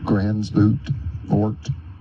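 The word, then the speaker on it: Gansevoort: Grant Cottage National Historic Landmark in Gransvoort, New York. You can pronounce it Gansevort, New York.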